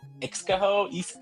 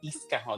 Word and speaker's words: Ixcajo: They would say, "Is it Ixcajo? How do you say that?" And I'd be like, "Oh, it's Iscajo." I'm like, the X is like an S, and they're like, "Oh, that's not Spanish."